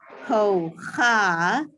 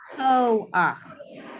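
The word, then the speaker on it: כֹּחַ: So we don't say ho-ha, we say ho-ach.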